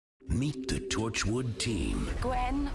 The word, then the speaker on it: Gwen: meet the Torchwood team Gwen one syllable sure you can manage it not sweet cheeks we